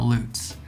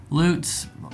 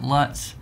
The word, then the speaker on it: Lutz: the screen all right today we're talking about loots loots maybe you've heard it pronounced lutz some people often call me and pronounce it luts so i know it's one of those that's